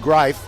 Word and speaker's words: Greif: His last name is spelled like grief, as in good grief, but it's pronounced Greif, and he'll be out there for at least one play.